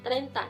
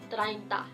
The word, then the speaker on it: treinta: タガロ語の発音では treinta になりますが、ビサイ語では treinta です。treinta です。